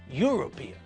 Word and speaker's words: European: to save an hour with university uniform and European we pronounce all these words with a year sound at the front it's not University it's University it's not uniform but uniform and it's not European it's European so we have to remember